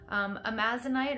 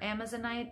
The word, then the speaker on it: Amazonite: Amazonite or Amazonite, depending on your pronunciation, sort of green heart-shaped